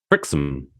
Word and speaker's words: Wrexham: back in the day, if the HAM is connected to another word at the end, you have to pronounce it for some reason like there's no A. So you just have to go, So Wrexham. So it's Wrexham.